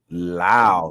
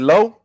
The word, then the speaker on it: Lowe: Brandon Lau, number 8. Is it Lowe? Brandon Lowe. No, Brandon Lau. He's Brandon Lau.